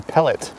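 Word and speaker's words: Pellatt: going on sir henry palette i've heard his name pronounced a few different ways before but in casa loma itself in one of the rooms they say pellet hmm let's go get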